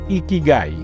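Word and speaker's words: 生き甲斐: El primer hábito o la primera filosofía de vida se pronuncia así: Ikigai.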